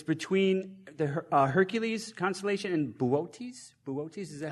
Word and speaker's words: Boötes: It's between the Hercules constellation and Boötes. Boötes, is that how that's pronounced? Booties.